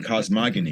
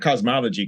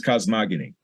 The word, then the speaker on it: cosmogony: priests who specializes in cosmogony. How do you know was a word? Not cosmology, cosmogony. Yeah. I thought you were saying it wrong. Says no, it's cosmogony.